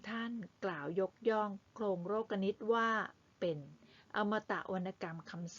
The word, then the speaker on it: โลกนิติ: ลักษณะ ของ โครง โลกนิติ คำ ว่า โรค กนิต อ่าน ว่า โลกนิติ ไม่ ใช่ โลกนิตินาคี คะ แปล ว่า ระเบียบ แบบ